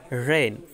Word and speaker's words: reign: তারপরে রেইন মানে রাজত্ব, REIGN, এখানে কিন্তু জি উচ্চারণ হবে না।